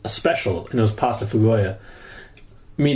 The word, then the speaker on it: pasta fagioli: That's how it's spelled, man. I think it's pronounced pasta fagoia. Whatever. But it looks like pasta fagioli.